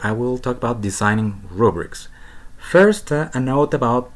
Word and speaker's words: rubric: will talk about designing rubrics first a note about pronunciation this word does not have a schwa so we say rubric not robbery it's always rude rubric so once we have